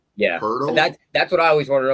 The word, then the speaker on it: Poeltl: If you go on Basketball Reference, like the little enunciation, it says Poeltl. Okay, it's Poeltl. With an R. Yeah, Poeltl?